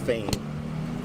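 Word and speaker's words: Phayme: Last name is spelled P H A Y M E, pronounced Fain.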